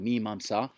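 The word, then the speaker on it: Mīmāṃsā: mimsa mimsa let's say it properly olong olong mimsa then we have the upanishads the last of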